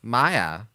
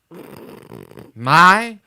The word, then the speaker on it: Maya: So, how do you pronounce Mia? Maya. Maya.